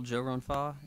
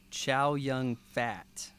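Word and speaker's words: Chow Yun-fat: runfa uh you know what most people call Joe runfa in America no tell me Chow young fat oh that's his name that's how you pronounce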